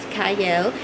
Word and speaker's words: Qiayel: It starts with a Q, but it is pronounced Qiayel.